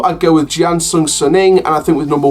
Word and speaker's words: Jiangsu Suning: you got Los Angeles Galaxy, Inter Milan, and Jiangsu Suning, that's how it's pronounced.